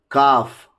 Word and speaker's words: calf: The letter L is usually not pronounced after the vowels A, O and U.